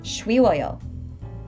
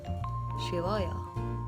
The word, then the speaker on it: 쉬워요: For words like 귀엽다 and 쉽다, remember that you don't need to make a strong W with your lips and say 귀여워요 or 쉬워요. The Korean pronunciation requires almost no movement from your lips. 귀여워요. 쉬워요.